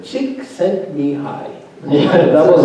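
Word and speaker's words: Csikszentmihalyi: I know Samir Charity taught me how to pronounce his name. Yes, Chick sent me high. Chick sent me high.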